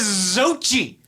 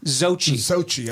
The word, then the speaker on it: Xochitl: Her real name is Xochitl.